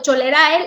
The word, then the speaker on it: cholerae: Exacto, Cholerae, la pronunciación correcta.